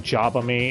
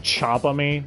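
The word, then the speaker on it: Jabami: there's occasionally times when instead of saying jabba me it sounds like they're saying chop on me with a ch but again that could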